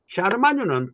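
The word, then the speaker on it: Charlemagne: 사르마뉴 대제에 관한, 사르마뉴 대제는, 샤르마뉴는 프랑스 말입니다.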